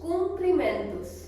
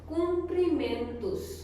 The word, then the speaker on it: cumprimentos: Now today we will learn something new and exciting, that is os cumprimentos. तो यहाँ पे मैंने आपके लिए हिंदी में भी लिख रखा है ताकि आप आसानी से इसको प्रोनाउंस कर पाओ। Cumprimentos.